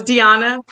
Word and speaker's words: Diana: of all um Diana I always let people say my name wrong but my New Year's resolution is to pronounce it for them so it's Diana um and I would